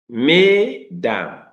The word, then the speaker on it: mesdames: In this mesdames, es, remember, giving us a. Then the a you're giving us the a. Madame, mesdames, madame.